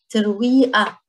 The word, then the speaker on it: ترويقة: Again, the قاف changes to ترويقة, ترويقة.